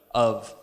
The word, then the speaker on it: of: English better so that they don't say off instead of of because it spelled of' but it's actually pronounced of like UV huh strange but anyway